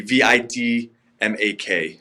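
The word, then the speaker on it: відьмак: It would be Vidmak. If you spell it with an E, it's the Russian version.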